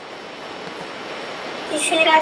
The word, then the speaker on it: Shishira: Ishira, sir. Eh? Ishira. Spell it.